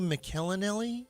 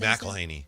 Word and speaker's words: McElhenny: That was Hugh McElhenny. Is that how you say it? McElhaney.